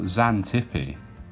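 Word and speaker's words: Xantippe: the spot which but they've gone for zantipi that's how you pronounce it and it's a western australian town with a population of just 20. so yeah zanzippi mildly famous now for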